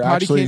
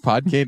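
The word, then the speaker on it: Podkayne: Did you say Potty Cane? Yeah, that's how I remember pronouncing it as a kid. Oh, that's adorable. That's not how you say it, but how do you say it then? Pod Cane.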